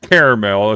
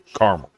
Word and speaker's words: caramel: it's only caramel if you spell it with the E in the middle. If you leave the E out, and both spellings are correct, if you leave the EL, it's caramel.